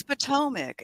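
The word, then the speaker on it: Potomac: word for me Andy Potomic I think poic it's probably one of those things like you know people say differently in different places but no it's patomic and I've been saying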